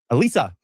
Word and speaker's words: Elisa: Elisa. Do we say it right? She always goes, they say my name wrong. They say Elise.